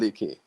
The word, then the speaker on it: Lekeonthebeat: It's called Lekeonthebeat. Lekeonthebeat. Yes. It's a Yoruba name.